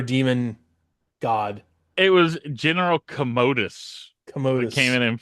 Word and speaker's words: Commodus: Like I said, it's not Commodus, it's Commodus. I hope that was the like a miss like a typo and they just went with it. Oh no, it's I mean, it's spelled pretty much the same. It's just they're pronouncing it Is it? differently. Okay. Yeah, they're pronouncing it like commode rather than Commodus.